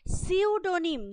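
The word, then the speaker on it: pseudonym: সিউডোনিম, দেখো আমি উচ্চারণটা কি করলাম, সিউডোনিম মানে ছদ্মনাম।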